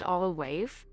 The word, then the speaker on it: Our Wife: This movie, titled Our Wife, pronounced Olawaif, is directed by Sola Adalai and Toyin Abraham Ajami.